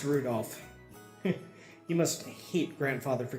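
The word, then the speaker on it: Rudolf: Come on, it's just Anyway, this guy's name is pronounced Rudolph.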